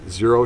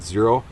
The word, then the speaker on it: Xero: from a different brand this zero shoe xero is is how it's spelled I'm not sure I think that's pronounced zero I had zero issues